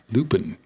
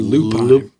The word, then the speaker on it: lupine: So in Maine, there's a wildflower called lupin. Or lupine.